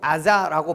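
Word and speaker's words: עזה: 먼저 가사라는 이름은요, 히브리어로 아자라고 발음하는데 강하다라는 의미를 가지고 있는 단어입니다.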